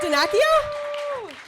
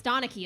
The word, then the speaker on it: Donachie: Danakio? It's Donachie.